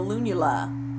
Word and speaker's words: lunula: first one is called the lunula and which kind of sounds like the word Luna which means Moon so on your finger